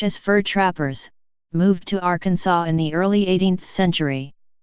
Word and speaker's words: Arkansas: in three three syllables with the final s silent the a in each syllable with the Italian sound and the accent on